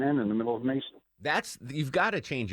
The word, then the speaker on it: Mason: life somebody mispronounces it my last name is mason m-a-s-o-n how do you mispronounce that everybody that i talk to says i say manson my first name is